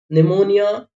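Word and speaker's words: pneumonia: बाद एन आ जाए, ये साइलेंट होगा पी। साइकोलॉजी, साम, निमोनिया, टेरोडोडेक्टाइल।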